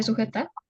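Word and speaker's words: souhaiter: pronuncia suj se pronuncia sujet no su su la H es muda la H no se pronuncia su significa desear suete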